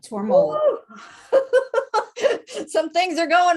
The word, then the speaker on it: Tormollen: Am I pronouncing that last name correctly? Exactly right. Tormollen.